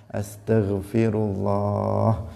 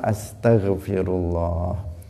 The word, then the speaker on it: Astaghfirullah: bermanfaat tetapi yang bacanya Yang benar Astaghfirullah bukan Astagfirullah sebagian orang membacanya Asto bukan Asta Astaghfirullah nah roknya dibom Nah bukan disukun karena ada sebagian yang membaca astagfirllah ada yang mau kamu cara membacanya seperti itu yang benar bagaimana Astaghfirullah ini penting karena zikir